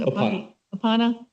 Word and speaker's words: Opana: With Opana, is that how you pronounce it? Opana.